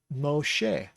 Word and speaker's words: Moshe: sheen tells us that it's an e sound like egg mo che moshe is the name of